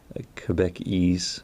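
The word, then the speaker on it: Québécois: pronouncing that even right quebec across q-u-e-b-c and ois quebecois so quebec ease you know which a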